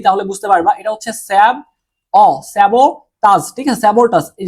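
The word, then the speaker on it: sabotage: এটা হচ্ছে স্যাবোটাস, ঠিক আছে? স্যাবোটাস। এই যে বাংলা উচ্চারণটা অনেকটা এরকম, বাংলা উচ্চারণটা অনেকটা এরকম, ঠিক আছে?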